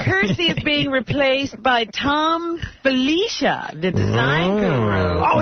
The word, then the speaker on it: Thom: But I pronounce it Tom.